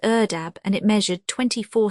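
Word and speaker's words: ardeb: The classical pronunciation is erdab, and it measured 24 s gallons, each filling four outstretched hands.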